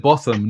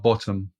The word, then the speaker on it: Higginbotham: So you said Botham, not bottom.